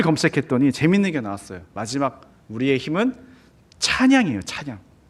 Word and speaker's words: hymn: 재밌는게 나왔어요 마지막 우리의 힘은 찬양이에요 찬양 힘으로 발음되는 영어 hym 저게 진짜 제가 쓴게 아니라 인터넷에 검색하면 저렇게 나와요 힘은 찬송가를 의미한다 굉장히